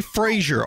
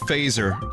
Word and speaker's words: Fraser: Fraser if you say Frasier I will kill you something like that I remember watching that about 10,000 times phaser it's pronounced phaser like Star Trek got it so now